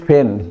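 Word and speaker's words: feign: इ silent over here next is फेन फेन का मतलब होता है बहाना बनाना टू प्रिटेंड राइट प्रिटेंड का सिनोनिम है ये तो इसमें भी देखिए जी साइलेंट है शैंपेन एक लेकर है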